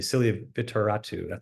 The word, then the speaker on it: Silia Vitoratou: Celia Vittoratu and her colleagues, excuse me, Celia Vittoratu, that is how you say her name.